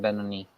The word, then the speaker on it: Benoni: Ben Benoni. Ah, man, I wrote a song about that and I said it wrong the whole time in the song. Dang it. Should have asked you first, Benoni. Um, uh, but yeah, I